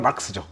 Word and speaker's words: 마르크스: 정확한 발음은 막스죠.